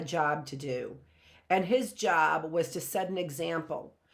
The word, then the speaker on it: Job: I think that the book of Job, I do think that it's interesting that we see it's J-O-B, which we say job, but we pronounce it Job.